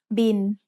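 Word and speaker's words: บิล: It's the word bill, but we read it in Thai as bin. Thai doesn't naturally have the L sound at the end of a syllable, so it changes to sound like the letter N.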